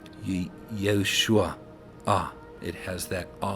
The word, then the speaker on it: Yeshua: And that's why we say Yeshua.